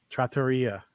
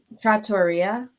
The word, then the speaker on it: trattoria: Trattoria. Is that what it is? It is. Wow, I should get it together. Trattoria. Like pizzeria. Wow, I've been saying it wrong for a long time.